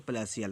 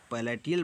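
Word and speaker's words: palatial: है मेरे प्यारे बच्चों प्लेशियल। क्या है? प्लेशियल। मेरे प्यारे बच्चों, आप लोग पैलेटियल पढ़ेंगे लेकिन वो रॉन्ग प्रोनाउंसिएशन हो जाएगा, तो प्लेशियल होगा।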